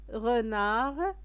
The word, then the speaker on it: renard: De petits renards. Le renard هو الثعلب. Petit صغير. renard دي ما كنطقوهاش.